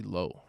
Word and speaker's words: Lao: like Lao but and I thought it was Lou for the longest time but it's actually low I feel weird now